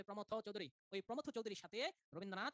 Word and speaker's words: প্রমথ চৌধুরী: উচ্চারণ হবে প্রমথ চৌধুরী।